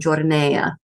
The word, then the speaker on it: giornea: pronounced camicia, gamora, and giornea. So yeah, anytime you have that I after a C or a G in Italian, the I is not pronounced. The I softens that sound, the consonant that precedes it.